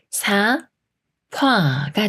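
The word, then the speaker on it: 삽화: 받침과 초성 이웃이 피읍 소리인 프로 바뀌기 때문에 사 파가 돼요 사파 사파 예문 읽어 볼게요이 책에는 사파가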